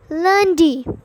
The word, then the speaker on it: lundi: So the first day, which is Monday, is pronounced as lundi.